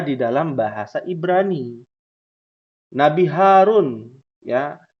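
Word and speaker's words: هارون: dalam bahasa Ibrani Nabi Harun Ya Harun itu bukan hak tapi ha besar ya Harun coba bisa kita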